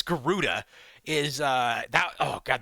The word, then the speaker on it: Garuda: Uh Gdora uh is No, it's not Garuda. It's Garuda is uh that Oh god, the UI setup.